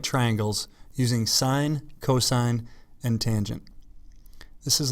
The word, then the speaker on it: sine: What is sine? Sine means the length of the opposite leg divided by the length of the hypotenuse. Sine is abbreviated as SIN, pronounced sine, not sin, which is equal to